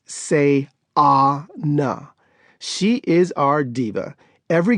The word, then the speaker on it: Sayana: The middle child is Sayana, pronounced Say-ah-na.